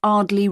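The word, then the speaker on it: Ardleigh: 24 Ardley Road. Can you spell that?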